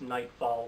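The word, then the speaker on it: Knightfall: just so you know that's nightfall with a silent K like a medieval knights not like night as in darkness outside best horror television series American Horror Story cult ash vs.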